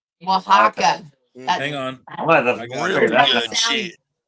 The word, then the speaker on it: Oaxaca: Yeah, it's like really crazy spelling, but it's Oaxaca. Oaxaca.